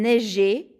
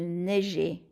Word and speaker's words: neigeait: followed by AIT, and so you want to make it an E after there to keep that soft G sound. Il neigeait.